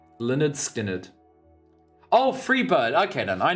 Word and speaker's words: Lynyrd Skynyrd: Never seen anyone pronounce it like that. What is Lineage Skinyard? I'm like, when I see that word, I think of Linners. Is there like a way for me to use Google to like... I'm gonna go on Google Translate and see how they pronounce it. Well, let me TTS this actually. Let me go on TTS. Leonard Skinnard. Leonard Skinnard.